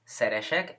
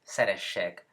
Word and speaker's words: szeressek: Es muy importante también que se den cuenta que la doble S tiene que ser pronunciada como doble S, ¿ok? No es szeresek, es szeressek.